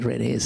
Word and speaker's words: Red Hazel: town called red Hazel we call it redis it's spelled red hassle and that is a